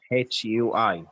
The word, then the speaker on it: Hui: marrow in Indian language, it's HUI, like Hoi. That's the right pronouncing, Brenda, HUI. HUI, like the Hui in Tongan.